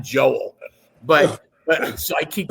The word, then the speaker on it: Joel: by name but he calls me Joe not Joel But but so I